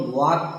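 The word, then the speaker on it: walk: जैसे डब्ल्यू ए एल और के, देखिए एल के बाद यहाँ के आया है, इसीलिए ये एल साइलेंट हो गया। इसको हम वाक कहते हैं।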